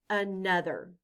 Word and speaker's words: another: It stands for the sound In this word, the letter O stands for the short U sound, The letters TH stand